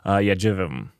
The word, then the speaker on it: JVM: Jivim. That's how you pronounce it.